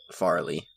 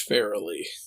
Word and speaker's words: Farrelly: by the farrelly brothers farley are we sure about that every review i saw online called them the farley brothers it looks like it's pronounced fairly yeah merrily merrily merrily